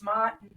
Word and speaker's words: Ma'at: What is the Ma'at. term? If I'm saying that correctly, I'm really bad with pronunciations. Because I did make a little notes about that because it's not, it's Mott.